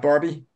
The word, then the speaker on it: Barbe: is it Barb shambles it's not Barbie no it's a silent E because I hated the Barbie doll oh okay you just don't say the E it's just Barb Barb well should drop the